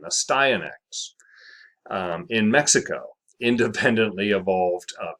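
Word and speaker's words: Astyanax: see an x a stionx there you go pronunciation a styanx in mexico independently evolved a pale body color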